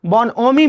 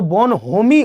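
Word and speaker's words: bonhomie: तो बोनोमी मींस क्या होगा? यहां पर एच जो है वो साइलेंट होता है। तो बोनहोमी उसे नहीं बोलते हैं। ठीक है? बोनोमी उसे कहा जाता है।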